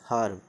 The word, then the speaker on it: herb: आधा अ से हर्ब, HERB हर्ब, इसमें आधा अ का उच्चारण होता है हर्ब।